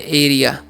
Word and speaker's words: area: AREA है, तो हम पढ़ते हैं एरिया।